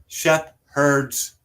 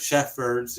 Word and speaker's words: shepherd's: kidding uh as well it's also shef herd's pie it's spelled with a p and then an H it's not sheffer's either don't get smart